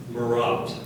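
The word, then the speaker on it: marotte: her own crash shop are there any alternate pronunciations no there the one you have the part of speech please it's a now could you repeat the word please morat morat morat m a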